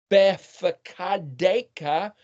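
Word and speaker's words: בפקודיך: Well, the pei can be either pronounced as a PH or a P. So it's either fakad, befakadeka.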